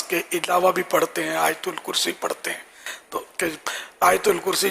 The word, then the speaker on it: آیت الکرسی: یہ ہمارے اس کو آیت الکرسی بولتے ہیں، صحیح تلفظ آیت الکرسی، یا بعض حمزہ پڑھتے ہیں آیت الکرسی.